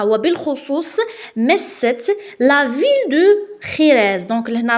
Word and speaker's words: Jerez: Particulièrement touché معناتها وبالخصوص مست la ville de خيريز. دونك لهنا راهي مكتوبه جوريز مي بالاسبانيه جي نطقوه خا.